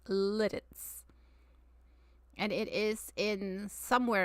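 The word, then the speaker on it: Lititz: But this town is pronounced Litz, not Latit. It's called Littitz.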